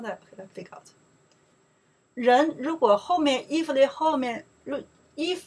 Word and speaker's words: 人: Okay, person, people, Chinese pronounced 人. Oh, that's so easy, right? So easy, right? Okay, let's figure out here. 人 in Chinese, you translate people, person, both they work.